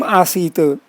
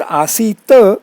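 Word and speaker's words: āsīta: The word asita is the ending, not the ending, not asit. It's a small point, but it's a good example that pronunciation should be always be letter perfect.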